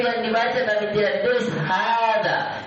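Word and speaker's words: هذا: Hada. Kalau baca hada panjang hanya tidak. Ada tulisan panjang di sini? Tidak ada. Tapi kenapa dibaca panjang? Karena tadi kaidah.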